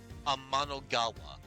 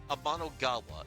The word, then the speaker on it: Amanogawa: So Ernest Amano's Japanese name is Joiro Amanogawa. His Japanese surname Amanogawa is pronounced the same as Amanogawa. Uh heavenly river, the Japanese word for the Milky Way.